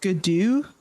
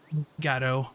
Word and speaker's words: Gatto: Is it Gadu? That's pronounced? Yeah, it's Gatto.